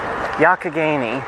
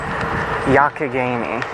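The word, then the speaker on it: Youghiogheny: and we instead parallel Yakageni. That is another one of the uh Pittsburgh areas fantastic spellings, Yakageni. Phonetically, it more resembles Yugaogeni, but it's pronounced almost with a ck.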